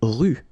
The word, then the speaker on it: rue: Une rue. Okay, remember final not pronounced. Une rue.